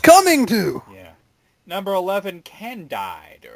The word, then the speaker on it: Candide: Number 11, Candide. Or actually, I think it's pronounced Candid.